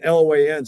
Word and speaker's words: Loan: So Loan, L-O-A-N, spelled like loan, but pronounced Loan.